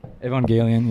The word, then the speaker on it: Evangelion: boy yeah Kane actually really likes evangeli Evangelion Evangelion yeah that's how they say it in the